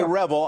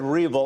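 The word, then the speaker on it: REvil: So you say Revel, I said Revel. I'm not sure which is more appropriate here. I'm going to take your word that the proper way to pronounce it is Revel, but it feels pretty Revel to me.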